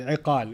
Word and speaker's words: iqal: They call it igal now, but iqal is the proper pronunciation.